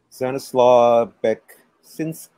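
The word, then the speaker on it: Stanisław Beksiński: Stanislaw Beksinski. Yeah, Stanislaw. Yeah. Stanislaw Beksinski.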